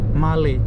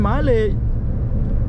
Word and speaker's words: Malé: is the capital mail how do you pronounce it Mali yeah so he's saying Malay it's not like the